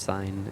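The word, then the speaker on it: sine: I don't know why it's pronounced sign and not the way it like reads.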